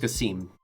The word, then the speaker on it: Quasim: Counselor Quasim London. Just pronounced Cassim. Demi Casim.